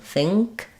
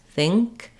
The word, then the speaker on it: think: and the k sound so in think you're going to have it with the the F sound the I sound the NG sound and the C Sound think think um and thank thank you're going to have the same pattern but with the a sound